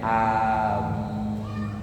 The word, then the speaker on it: amin: masyhur dan paling sahih yaitu dibaca a-nya Dibaca panjang tanpa mendomah eh tanpa mentasditkan huruf mim Dar bacanya amin a-nya Panjang kalau dilihat dari dari